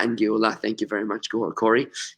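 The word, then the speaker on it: גאולה: Geula, which is exactly the same letters, Gimel, Vav, Lamed, Hey, with an Aleph in between. Geula. G-E-U-L-A-H. They're pretty much identical words. The Aleph is almost a silent letter.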